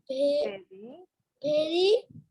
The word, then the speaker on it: very: This is very. Pronounce করো তো very. B-E. No, no, no. Very বলো, very. B-E-R-Y. Very. No, Baba. This is V. This is not V.